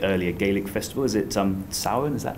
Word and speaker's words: Samhain: Is it Samhain? Is that how you pronounce it?